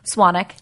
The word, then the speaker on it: Swanwick: on Twitter at Swannack ji mes SWA and WI see there's a silent w but I've been karate